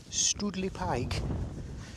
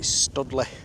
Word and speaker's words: Stoodley Pike: but we'll see so yeah here it is studle Pike now it is spelled St o d l e y stle I've always called it studly there you go the more you know where's